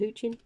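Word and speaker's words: Hoechlin: tyler pro tyler posey uh dylan nabrian taylor hoochie okay that's how you say his name guy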